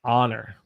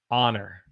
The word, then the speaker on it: honor: word here we say honor so this h in american english is silent the h is silent so we say honor it's an honor to